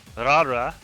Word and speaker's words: Laura: anymore yeah so yes in katakana it's pronounced rara rara but we say Laura and then you got